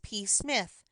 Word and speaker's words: Psmith: reveal to you is p Smith the p is silent and until very recently